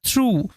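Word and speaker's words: through: এই শব্দটা একটু মাথায় রাখবে, এই শব্দটার উচ্চারণটা থ্রু, থ্রু এরকমভাবে হয়।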